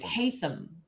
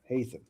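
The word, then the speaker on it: Haytham: Hyam. Hayam. Hayam.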